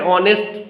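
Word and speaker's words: honest: भी ही इज एन ऑनेस्ट person में ऑनेस्ट में ऑ था भले ही एच कॉन्सोनेंट से वो शुरू हुआ लेकिन उसकी उसका जो साउंड है वो वावेल साउंड से शुरू हो रहा है ऑ से शुरू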